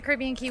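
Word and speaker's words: Caribe Cay: tell you what it is this is obviously pronounced caribbean key of course the other pronunciation would be caribbean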